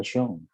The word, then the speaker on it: chance: Do not forget to pronounce the medyo sound at the end. Chance. Chance. Because when you say chance, it means another thing.